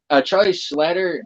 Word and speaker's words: Charlie Schlatter: yeah his best friend Gunter Shenanigans and yeah Charlie Schlatter does great as did I say it right